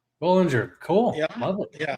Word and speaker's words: Bollengier: I apologize if I mispronounced you you had it right. It's Bollinger. Bollinger, cool.